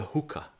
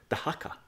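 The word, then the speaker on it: Dhaka: The hookah. Is that how you pronounce it? The hakka. The hakka.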